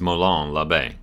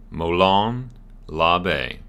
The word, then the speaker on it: Molon Labe: the United States is Malone Labe let's go slower mo long Labe if you want to go for the more proper Greek way to pronounce it it is Malone love a that one slower is